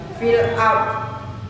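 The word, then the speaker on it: في الأرض: dhon dho ni dho maka kalau di sukun kembali fil ardhi tidak fil ardhi bibir harus maju kemudian rahang penuh udara fil ardhi dho dhi dhu bab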